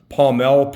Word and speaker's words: pomelle: But it's Pomelle, Pomelle, and then Sapele. Also, some people do spell that differently, but that is the correct spelling and pronunciation.